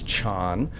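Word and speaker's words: 禪: The Chinese pronunciation of that is chan.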